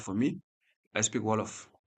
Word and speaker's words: Wolof: Like for me, I speak Wolof. Wolof. Wolof. That is Wolof. my. It is spelled as Wolof.